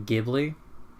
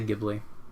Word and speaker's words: Ghibli: Personally, I like the hard G. I like to go Ghibli. Because whenever I always think of Evangelion. Like, that's a hard G.